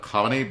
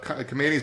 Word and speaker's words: Khamenei: I never say it right. I know it's more like Khamenei, but I'm gonna use my American mouth to say Khamenei the way everybody here says it.